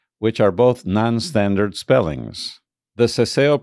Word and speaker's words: Seseo: The Seseo pronunciation is used mainly in the Americas and in very particular cases and areas in Spain.